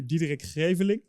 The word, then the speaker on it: Diederik Greveling: So if I would pronounce it in Dutch, it would be Diederik Greveling.